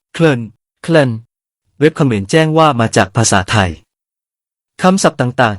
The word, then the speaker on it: ក្លិន: สวัสดีครับ คำภาษาไทย ในภาษาเขมรวันนี้ ขอเสนอคำว่า กลิ่น (ក្លិន) คำนี้ เขมรออกเสียงว่า เคลิน เว็บเขมรแจ้งว่า มาจากภาษาไทย คำศัพท์ต่าง ๆ ที่ใช้อยู่ในเขมร คำไหนที่มาจากภาษาไทย ดูไม่ยากครับ ถ้าเห็นตัวอักษร ส.